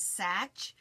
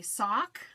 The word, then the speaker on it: Sach: it's so funny because my last name is such and it spelled SI CH and it's an English name and am I everybody either calls me sock sack or you